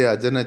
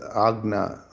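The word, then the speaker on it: Ajna: Lot of people say ajana chakra but it is agna.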